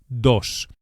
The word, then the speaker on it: dos: The Spanish D is actually softer than in English and is produced with the tongue flat against the gum ridge, against the top of the mouth, not the tip of the tongue as in English.